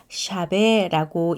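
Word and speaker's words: שָׁוְא: 망령되이는 히브리어로 샤베라고 읽는데요.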